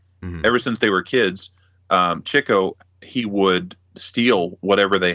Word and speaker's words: Chico: people don't know that Chico is pronounced Chico but it's it's because he was always going after the chicks yes yes he is not Chico yeah it's chicle he was a womanizer